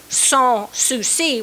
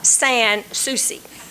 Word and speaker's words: Sans Souci: the name saucy now i don't know if they ever pronounced it song sioux c which is the actual pronunciation or if they like our generation has southernized it to become san souci but the name has